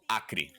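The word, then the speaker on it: Acre: go there is a state in Brazil called akri AC re e it is on the far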